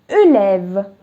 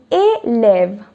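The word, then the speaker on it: élève: khan it would have been ulev that's also wrong so it is a lev so with this word you will be able to differentiate the sounds a a so a lev that's how it's pronounced and a lev means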